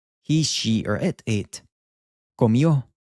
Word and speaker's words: comió: He, she, or it ate, comió. This I-O makes this yo sound, comió.